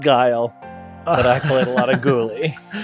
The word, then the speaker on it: Guile: But it's not pronounced Ghoulie, it's pronounced Guile.